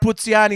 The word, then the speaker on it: Puzziani: So Puzziani, or it's pronounced Puzziani in Italian.